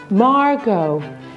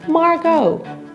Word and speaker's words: Margaux: Margaux. AUX is pronounced as O in French, so it's pretty easy. Margaux.